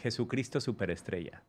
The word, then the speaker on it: Jesucristo Superestrella: How do you say Jesucristo Superestrella. Oh. Wow. Repeat after me. Jesucristo Superestrella.